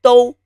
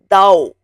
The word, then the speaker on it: 都: The 声母 is 的 o 都, which means all. Avoid pronouncing it as dao. It is 都.